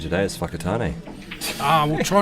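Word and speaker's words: Whakatāne: Well, the only swear word I've said today is whakatane. We'll try not to do that. That's how you say it. That's how it's pronounced.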